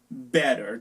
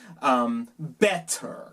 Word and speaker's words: better: Better. Típicamente una persona de Inglaterra se va a pronunciar better. Better en Inglaterra y Australia. Better en los Estados Unidos. Casi no pronunciamos las dos T's.